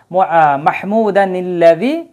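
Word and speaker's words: محمودا الذي: চিহ্ন দেওয়া থাকে কিন্তু আমরা যদি এই জায়গায় থেমে যাই ওয়াকফ করিম মাহমুদা এটা যদি আমরা থেমে যাই তারপরে যদি আমরা পড়ি আল্লাত হ্যাঁ তখন কিন্তু আর নুনের কুতনির উচ্চারণ হবে না কিন্তু আমরা যদি একসাথে পড়ি একটানে যদি পড়ে যাই তখন নুনে কুতনি আনতে হবে মাহমুদানি এভাবে আসবে তাহলে আল্লাজি শব্দ হচ্ছে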